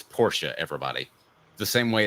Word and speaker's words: Porsche: atam sorry not happening by the way it's Porsche everybody the same way it's not naand it it's the way a man pronounces his name I can't I can't say